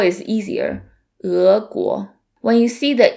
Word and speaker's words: 俄国: And then the next one is 俄国, 俄国, which means Russia.